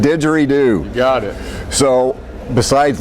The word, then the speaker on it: didgeridoo: Will Thorin is a photographer, a musician, and a didgeridoo.